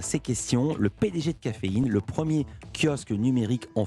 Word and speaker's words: Cafeyn: Présentez-nous Caféine, ça s'écrit comme de la caféine, C-A-F-E, mais ensuite c'est un Y et un N, il n'y a pas de E à la fin.